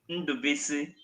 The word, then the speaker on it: Ndubuisi: name is my name is Honorable Ambassador Ndubuisi. Ambassador. Now, say that one more time for all of those who want to get it right. Say that again slowly. All right. Honorable Ambassador Ndubuisi.